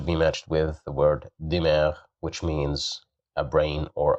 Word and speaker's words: دماغ: So here we have kasra below the letter dal. So that's why we pronounce it as di, dimar, dimar.